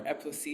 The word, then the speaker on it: Eposi: Yes, so of course, posse comes from Apasi, my middle name, or Eposi, that's the Cameroonian way to pronounce it.